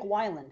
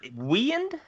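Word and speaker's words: Wieand: dick we for years I've called him dick wiland but it's we it's w i e a n d which is kind of weird but whatever weend well how how you going to pronounce it w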